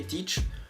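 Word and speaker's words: Tite: à peine trois ans et grâce à l'entraîneur teach et n'ont pas quitté comment pour les croire pouvait s'intégrer comme ça et ça se prononce comme ça each et donc le successeur de dunga qui a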